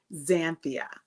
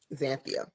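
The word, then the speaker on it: Xanthia: the unusual name however it is very phonetic it actually is said just like it is spelled it's zanthia zanthia okay but it is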